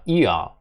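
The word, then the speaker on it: ihr: І тут та ж сама історія, що і в це р воно вокалізується і виходить таке, як і, але тут воно х не вимовляється, а х воно просто подовжує першу букву і, тому таке довге виходить.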